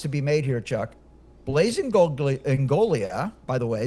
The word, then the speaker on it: Blaise Ingoglia: be made here Chuck Blaze Engolia by the way the G is not pronounced blazeolia was appointed by